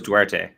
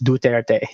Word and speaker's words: Duterte: I thought it was Duarte. You can pronounce it either way, but it's Duterte.